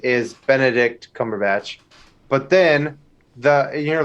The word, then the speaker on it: Benedict Cumberbatch: It's Benedict Cumberbatch.